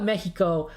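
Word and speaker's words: México: Or at the very least, we learned the X is not pronounced that way in Latin America. So I call it Mexico because that's the pronunciation.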